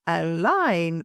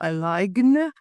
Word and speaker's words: align: The G is almost entirely silent. It's align, not align.